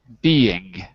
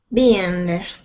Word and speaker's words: being: Spanish speakers have a hard time with the ing sound. So it's not being with an N. It's being with the back of your tongue, not the tip, but the back of your tongue touching your throat.